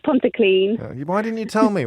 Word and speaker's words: Pontyclun: Did I pronounce that correctly? It's Pontyclun.